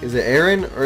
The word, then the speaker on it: Aaron: so he called me he's like is it Aaron or aan and my name is spelled a a r o n so like